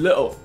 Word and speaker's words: little: little punk Be careful with the pronounciation Don't pronounce it as "little"，say "lil" instead lil, right? lil’ punk lil’ punk!!! If you think punk is too hard There's a even more simple choice just call him little shit How to translate 撒嬌 This is a